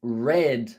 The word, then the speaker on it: read: book last night now the pronunciation of it is red like the color blood is red so with red that's the color it sounds like that it sounds like red but the correct one